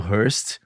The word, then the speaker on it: Hurst: Hoje com duas mulheres da indústria da música que estão, na verdade, são de um fundo chamado Hearst. É isso?